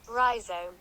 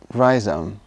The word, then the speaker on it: rhizome: of roots they have rhizome verizon pronunciation rhizome rhizome rhizome rhizome so instead of